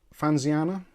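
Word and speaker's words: Fanxiang: I still can't work out how to pronounce this because I know in Chinese generally the X is pronounced as S. So it's Fanxiana.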